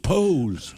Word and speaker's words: POS: It's supposed to be pronounced Pose.